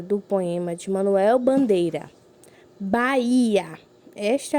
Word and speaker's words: Bahia: Podemos observar que na palavra Bahia temos o acento no I, certo? Então, é uma palavra o quê? Paroxítona, oxítona ou proparoxítona? Ela é uma palavra paroxítona, certo? Pois a sua penúltima sílaba é a sílaba mais forte, tá bem?